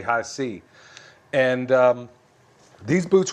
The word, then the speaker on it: HISEA: spelled h i EA I was pronouncing them high in the past but it's actually high C and um these boots